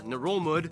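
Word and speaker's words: Ngerulmud: dab island which holds the capital melakayok or nerolmud yeah that's how you pronounce it which is the least populated capital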